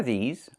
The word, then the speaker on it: these: Make sure you make the long E sound like green beans. These. Plus the Z sound like in zebra and zipper. Z with a voice.